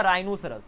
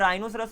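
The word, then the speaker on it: rhinoceros: तो मैंने बोला राइनोसरस, तो यहाँ पर राइनोसरस में आर एच आ रहा है, तो एच के पहले आर आ गया, इसके लिए वो साइलेंट हो गया, तो राइनोसरस हो गया।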